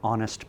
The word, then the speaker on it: honest: We'll also say an honest person, because the H is silent, and so the sound is a vowel sound at the beginning of honest.